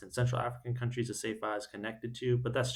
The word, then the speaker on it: CEFA: Also, since I don't think I mentioned it yet, Cefa, it's basically the word is spelled CEFA.